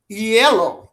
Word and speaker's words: hielo: candice joyner of fuego yellow i remember the h is silent in spanish so i don't say